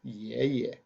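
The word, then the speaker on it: 爷爷: And this egg-headed looking gentleman is her grandpa, which in Chinese is pronounced yeah, yeah. Yeah, yeah. Second time, Y-E, yeah. Repeated, yeah, yeah. Once you've copied that character down, we can move on.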